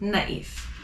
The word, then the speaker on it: naïf: How do I know to pronounce the I more than the other letters? It's because of the tréma. So again, loïc, naïf.